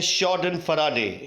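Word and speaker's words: Schadenfreude: दूसरा शब्द आपके सामने जो आया है वो एक बहुत ही यूनिक शब्द मुझे मिला, जिसको प्रोनाउंस करते हैं शॉर्डन फराडे।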